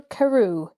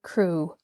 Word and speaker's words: Crew: Madame Pascal pronounced it as if it were Carew instead of Crew.